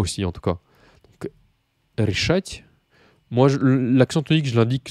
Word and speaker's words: решать: Решать. Et je crois que l'accent tonique, c'est решить, qui signifie décider. Donc решать, l'accent tonique, normalement, il est sur le A.